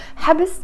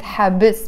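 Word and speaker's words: حبس: habess are somehow related so habess means jail habs so haps it has a school but i'm pronouncing it habits because it's a short syllable word one syllable word habess so mahbes is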